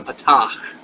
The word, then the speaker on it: patach: the point is the patach. Patach. If you're a Star Trek fan, there's a Klingon insult by that has that word. Patach. Patach. Remember that glottal KH thing? The H. This one's got it.